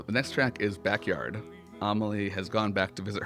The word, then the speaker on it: Amélie: especially the UK for Amily. Amily choices. They didn't even say Amily in like the American Broadway. They still said Amaly. Like, that's how you say her name.